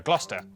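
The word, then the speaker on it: Gloucester: Cester is pronounced stir. Lester, Worcester, Glouester.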